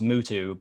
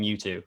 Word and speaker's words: Mutu: anyway yeah um i guess technically his name's pronounced mutu but of people call him mewtwo and that would be mew2 the pokemon so